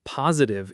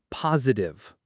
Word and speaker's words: positive: And while we're here, the word positive itself trips people up sometimes. A lot of learners say positive with a soft middle, but the natural pronunciation is positive. Positive. The first syllable is the strongest.